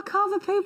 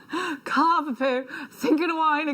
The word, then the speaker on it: Cavapoo: named one of our cavapoo puppies Ruby I love the cover poo Cavapoo that's how you say it right not Carver Carver poo Gan four chances left